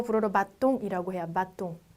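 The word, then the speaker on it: bâton: 발음의 변화가 없기 때문에 그냥 아로 읽으시면 되겠죠. 바통.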